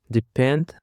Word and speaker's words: depend: Depend consists of two syllables and the stress is on the second syllable.